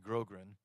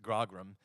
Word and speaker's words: grogram: So this concoction, so Admiral Vernon used to wear a cloak made out of a coarse material called grogran, or as the British sailors pronounce it, grogram, and his nickname was Old Grog.